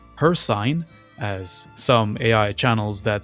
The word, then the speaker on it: Hircine: a onetoone spelling but pronounced as her sign as some AI channels that say cyrodial or cvatch might pronounce it.